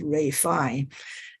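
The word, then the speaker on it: Ralph Fiennes: that's his name but his name is pronounced as Ray fine and he was in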